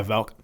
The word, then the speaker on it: Valk: How do you say his name? Yeah, Valk.